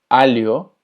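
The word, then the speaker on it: alho: La LH se pronuncia como li. Por ejemplo, filio. Filio, que significa hijo. Alio, que significa ajo. Ilia, que significa isla. Y malia, que significa malla. Entonces, la LH es li.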